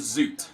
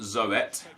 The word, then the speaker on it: Zoet: Marcus says, Zoot is pronounced as Zoot. Just thought I want you to know. Well, thank you, dude. I didn't know. I assumed it was Zoet, which, because that's how you would phonetically pronounce his name if you spelling out Zoet, Zoet.